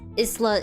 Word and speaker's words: Isla: my filipino accents yeah mostly spanish spanish filipino mexicans um you know those languages of spanish origin pronounce my name as isla because isla is like a word that means island so so it's understandable